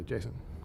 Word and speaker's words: JSON: Just whenever I'm in a meeting and somebody says JSON, I say Jason.